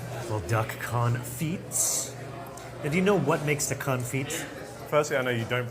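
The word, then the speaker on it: confit: Well, duck confe. Firstly, I know you don't pronounce the tea. It's duck conf. It's French. So, they don't say t's over in France.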